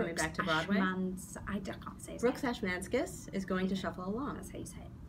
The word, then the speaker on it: Ashmanskas: Brooks Ashmanskas is going to shuffle along.